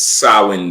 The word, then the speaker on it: Samhain: it Sam it's spelled Sam ha but it's sawin day right it's pronounced SS day yes say again yeah